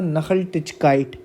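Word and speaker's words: Nachhaltigkeit: नखल टिचकाइट। ठीक है? ये एन ए सी एच एच लिखा है। इसकी जो प्रोनाउंसिएशन है वो नखल टिचकाइट है।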